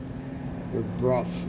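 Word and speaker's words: Brough: call them bro Superior I guess the correct pronunciation is Bru or Bruff or something like something close to that I call them Bru Spears but I know when I was at J lenos they called them Bruff Superior so I don't know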